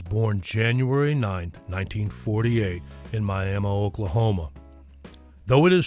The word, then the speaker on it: Miami: Cassie Luru Gaines, affectionately called the Oki Songbird, was born January 9th, 1948 in Miami, Oklahoma. Though it is spelled M I A MI like the city in Florida, it is pronounced Miami.